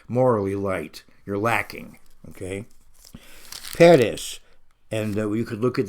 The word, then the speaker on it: Peres: And so later on, it has the vowels Peres.